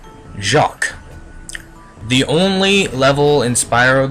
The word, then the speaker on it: Jacques: world dream Weaver's World Jac not pronounced Jack quz as you uh childhood self May believe jacqu the only level in